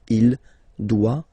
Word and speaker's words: doit: Final T not pronounced. Il doit, elle doit.